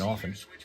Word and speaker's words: often: I do pronounce the R in February and I don't pronounce a T in often.